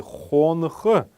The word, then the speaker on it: хонх: Первый неясный гласный будет стоять после буквы Н. Мы должны его произносить как фоновый звук, такой фоновый шум.